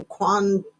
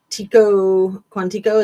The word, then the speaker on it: Quantico: FBI National Academy in Quantico Quantico. Is that how you say it? I always want to say Guantanamo Bay, but no, it's it's Quantico, Virginia.